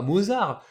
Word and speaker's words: Mozart: qu'on le voit écrit Mozart on dit bah Mozart mais non c'est un prénom autrichien donc allemand qui se prononce bien à l'allemande Mozart donc mozarto et